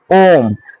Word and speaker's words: ओम: और इसका उच्चारण करके आप देखिए एकदम लंबा मतलब कहने का मतलब ह्रस्व स्वर से तीन गुना समय लगता है।